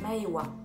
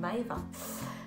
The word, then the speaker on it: Maëwa: Mon prénom s'écrit avec un W et non un V, donc ça fait Maëwa au lieu de Maeva.